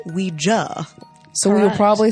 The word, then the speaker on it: Ouija: Commonly known as Ouija, but actually pronounced Ouija.